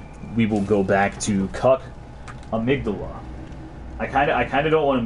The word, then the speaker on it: amygdala: The game pronounces it amygdala, but basically the amygdala is a structure in your brain. Like, it's a real thing, and it's actually pronounced amygdala, so that's how I pronounce it.